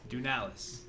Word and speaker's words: Dounelis: said it right so what do you got dunelas dunalis dunalis i love that we are matching today